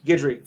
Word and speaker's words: Guidry: Ron God, why can I not pronounce that guy's last name? Thank you. Guidry. 4. I think I'd say Guidry at 3.